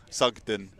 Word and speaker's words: Sugden: Do you not like my pronunciation? What? It's wrong, so no. Sugden. Can you say it again? Sugden. Okay. Not Sudge.